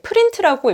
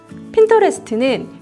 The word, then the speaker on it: Pinterest: 제가 얼핏 봤을 때 프린트라고 읽고 이거 무슨 프린트 회사인가? 잉크 관련된 회사인가? 이런 생각을 했었거든요. 프린트가 아니라 핀과 인터레스트의 합성어, 바로 핀터레스트입니다. 핀터레스트는 이미지를 검색하고 모으는 서비스입니다.